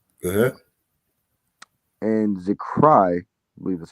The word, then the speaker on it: Zechariah: And Zechariah, I believe that's how you say it. And Zechariah.